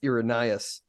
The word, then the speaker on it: Irenaeus: I think it's Irenaeus. There you he go. died in I pronounced it right.